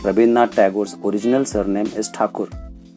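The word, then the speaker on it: Thakur: tagore's original surname is takur britishers were not able to pronounce his surname correctly so they started calling him as tagur and since then he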